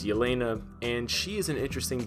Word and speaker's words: Yelena: Belova, who a lot of people, sometimes they mispronounce it Helena as the Black Widow, but it's Yelena, and she is an interesting Black Widow because